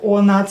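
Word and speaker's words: оно: Ono, again, o not stressed, pronounce it as a.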